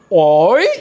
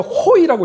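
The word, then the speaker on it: הוֹי: 어떻게 발음하냐면 어이 이렇게 있습니다. 뭐라고요? 어이라고 있습니다. 혹은 어떤 유대인은 호이라고 있습니다.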